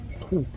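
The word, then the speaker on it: trứng: le nom c'est café trou et comme je vous dis la langue c'est surtout une question d'intonation ça s'écrit café on dira TR TR mais ça se prononce un espèce de ou fuyant je mess mais bon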